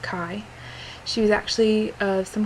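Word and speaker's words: Caye: as being a friend, her name was Kai. C-A-Y-E, but pronounced Kai.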